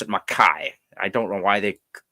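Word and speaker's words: Mackay: is called McKay spelled McKay but they they pronounce it maai I don't know why they pronounce it maai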